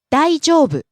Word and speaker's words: 大丈夫: もしもし、 Next we have 大丈夫、 all right, okay. 大丈夫、大丈夫、 Rises on the second syllable, e, falls on the second to last syllable, u.